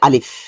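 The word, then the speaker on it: ألف: আলিফ আলিফ উপরের দাঁত নিচের ঠোঁটের পেটের মধ্যে স্পর্শ করবে এবং খুবই পাতলা হবে। সাউন্ড হবে পাতলা। আলিফ আলিফ। সাথে সাথে পড়বেন আলিফ। আলিফ। আলিফ। ভিতর থেকে বাতাস বের হবে।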